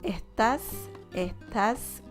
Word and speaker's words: estás: But there are certain S's that they just don't pronounce the S sound. They say, like they're like sighing a little bit. Yeah. Estás cargando, me estás cargando, vos qué pensás, me estás cargando, right?